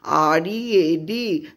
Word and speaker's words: read: That is, after full stop you write Mahatma Gandhi, R-E-A-D, though the spelling is same, but here R-E-A-D pronunciation is read, that is, it is in past tense.